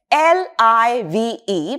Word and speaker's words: live: So moving on to the first pair, L I V E, pronounced as live. When it is a verb, it means to exist, to be alive or to reside somewhere.